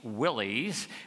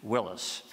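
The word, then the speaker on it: Willys: War II Jeeps these days people call Jeeps Willies because of how the name is spelled w i l l y s but I prefer the original pronunciation Willis how's that for information you really don't care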